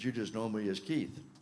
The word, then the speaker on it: Keith: Keith Racy, but you just know me as Keith, which is how I prefer to be called because it rhymes with teeth and it's easy to remember.